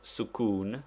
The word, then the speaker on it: sukun: is the use of sukun pronounced Suk that is with the Italian U it denotes the letter